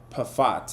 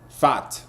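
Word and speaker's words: Pfaadt: We have Brendan Pat or however you say his name, man. How do you say this guy's name? Fat. I think you you ignore the P, right? Fat.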